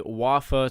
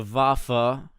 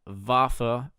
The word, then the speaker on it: Waffe: It is not the Waffe 28, it is the Waffe. You pronounce a W as a V, Waffe.